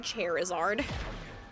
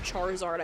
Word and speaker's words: Charizard: but I love that she said cherizard um that is the worst pronunciation of Charizard I've ever heard so I hope your